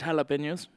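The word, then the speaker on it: jalapeños: matter expert how do you say jalapenos it's jalapenos there you go how said that I like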